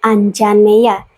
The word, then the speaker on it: Anjaneya: sebagai Putra Anjani Hanoman dipanggil anjaneya diucapkan anjaneya yang secara harfiah berarti